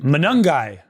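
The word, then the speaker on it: Monangai: Manungai.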